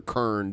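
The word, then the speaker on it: Krynn: then there was uh crin or Kern depending on how you pronounce it the dragonlance universe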